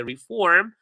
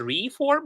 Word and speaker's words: reform: And finally, a reform. And please pay attention to the pronunciation. We don't say a reform, we say a reform, right? Reform. Form is like more stressed. Reform.